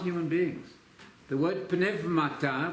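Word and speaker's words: πνεύματα: The word pneumata, we use the modern Greek pronunciation, the word pneumata, spirits, when used absolutely by itself, not spirits of just men, that's qualified, that's spirits of just men.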